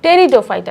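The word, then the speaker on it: Pteridophyta: এটার উচ্চারণ হচ্ছে গিয়ে টেরিডোফাইটা টেরিডোফাইটা নট পিটেরিও না টেরি হবে পি টা উচ্চারণটা একটু সাইলেন্ট থাকে তো টেরিডোফাইটা এরা কারা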